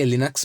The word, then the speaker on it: Linux: Okay, because of his name Linus, the Linux has came into existence. So we for the explanation I just say Linux, but you can pronounce it as like Linux also.